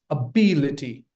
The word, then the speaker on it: ability: It's ability. Not ability. It's ability. You put stress on the second syllable.